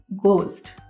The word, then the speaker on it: ghost: और जिसमें सबसे ज़्यादा पॉपुलर वर्ड है गोस्ट, तो GHOST। अब उसे क्या प्रोनाउंस करेंगे हम? उसमें H को हमने प्रोनाउंस नहीं करना और उसे ओनली और ओनली G को प्रोनाउंस करके हमने बोलना है गोस्ट।